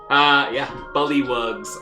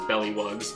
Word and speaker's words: Bullywug: Bullywugs around the universe are now mad at you for pronouncing that as bellywugs, but I'm sure that won't come back to haunt you later in the game.